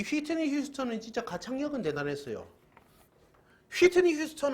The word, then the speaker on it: 휘트니 휴스턴: 우리나라 발음으로는 휘트니 휴스턴이지만 아시죠? 그쪽의 발음에서는 휘트니 휴스턴이라고 그래요. 휘트니 휴스턴.